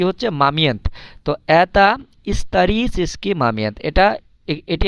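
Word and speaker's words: момент: মামিয়েন্ত moment মামিয়েন্ত moment এখানে একটা জিনিস মনে রাখবেন এটার দেখেন রাশিয়ান এই যে অক্ষরগুলো এম ও এম ই এন তে মামিয়েন্থ ইংরেজিতেও কিন্তু এই ঠিক এই অক্ষরগুলোই আছে মোমেন্ট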